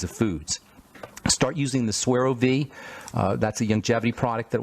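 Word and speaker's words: SueroViv: of those kinds of foods start using the swear OV that's a youngevity product that will give you energy su e ro v IV swear OV get letters from folks who can't find it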